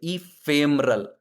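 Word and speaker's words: ephemeral: अब देखो, ये देखो इसको पढ़ना कैसे है, नहीं पढ़ पा रहे थे, इंग्लिश के प्रोनाउंसिएशन से भी नहीं पढ़ पा रहे थे, तो इसे पढ़ सकते इफेमरल।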